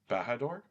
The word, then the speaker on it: Bahador: Bahador, is that how you say it? Yep. Yeah. Bahador Bahani.